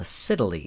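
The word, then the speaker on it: scytale: this thing called a Siddeley yes it rhymes with Italy it is a cipher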